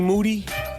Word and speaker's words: Moody: his name is G Moody last name rhymes with Duty the podcast co-host tramas